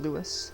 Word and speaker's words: Lewis: Yeah, I'm calling him Lewis instead of Louis, because I don't... they're in San Francisco, so I'm not doing it with the French version, That's why I'm calling him Lewis instead of Louis.